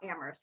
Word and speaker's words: Amherst: can come across about Amherst right because only the H is silent in Amherst so that is something